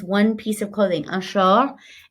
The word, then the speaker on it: short: Un short. And that T is silent.